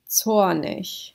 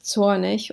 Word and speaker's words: zornig: Zornig. This one is zornig, or you could also pronounce it zornig, depending on dialect.